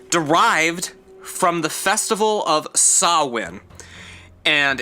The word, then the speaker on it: Samhain: from the festival of sawin and it's spelled samhain if you wanted to look it up but it's not pronounced samhain it is pronounced saw win make sure you're looking